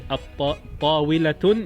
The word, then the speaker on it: الطاولة: Example of a word that starts with Ta is At-Tawilatun, means table. When you introduce a definite article is At-Tawilatu, so it's a sun letter.